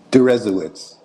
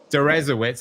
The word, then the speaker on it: Deresiewicz: How do you pronounce your last name? Durowitz. Dzawitz.